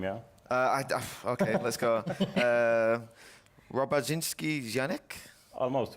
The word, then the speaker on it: Robaszyński-Janiec: Oh, you're not pronouncing my name, yeah? Okay, let's go. Robaszyński-Janiec? Almost, Robaszyński-Janiec.